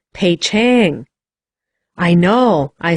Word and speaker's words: Peking: i was in poughkeepsie they don't call it peking over there he said it sounded pay chang i know i said